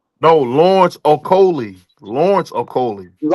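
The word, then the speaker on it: Okolie: Those they wasn't in order, but you got Lawrence Makoli and Lugassi Jr. over Daniel Dubois and Moses Atana. No, Lawrence Okoli.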